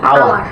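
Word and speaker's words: hour: এখানে এজ অনুচ্চারিত, এখানে এজ এর উচ্চারণ হয় না। আমরা যদি এজ এর উচ্চারণ করি তাহলে এখানে হইব হাওয়ার, এখানে কি হইব? কিন্তু এখানে এজ এর উচ্চারণ হবে না, এটা সঠিক উচ্চারণ হচ্ছে আওয়ার।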